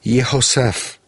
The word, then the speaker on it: Yehoseph: In the Hebrew text of this psalm, there is an extra letter included in the name Yosef, the letter He. So his name is pronounced Yehoseph.